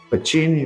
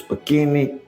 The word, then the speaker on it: Pacini: Uns dizem Pacini, outros Pacchini, Pagini. Não importa, é pronúncia.